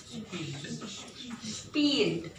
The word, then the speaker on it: spielt: Spielt. This is a E long.